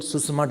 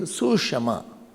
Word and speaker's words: Sushama: So they found out that if U is there or E is there before Sa, the pronunciation is not very beautiful. Adhisthan doesn't look good. And then Panini make the rule that let the Sa change into Sha. And therefore it became Sushama.